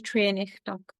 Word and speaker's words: Treurnich: It's my name, so I'll have to spell it because my surname is a little tricky, but it's Trian.